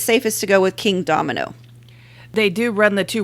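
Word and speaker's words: Kingdomino: I started off saying King Domino, which I've been told is how Bruno Cathala pronounces it. I have yet to actually find a recording of him saying it. I have also heard others say it as Kingdom Eno, but I kind of figure it's like potato.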